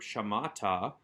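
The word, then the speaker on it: שָׁמַעְתָּ: starts with a verb shamatha with the accent over that penultimate second to last syllable ma that's because the final syllable ta is not strong enough with that vowel ending to draw the accent to itself the way that a strong consonantal ending would we also have a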